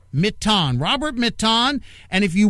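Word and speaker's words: Mitton: I pronounce it Mitten, but it's his name. He gets to pronounce it any way he wants. It's M-I-T-T-O-N. Robert Mitten, right? Mitten, right, Robert? Yep. Mitten.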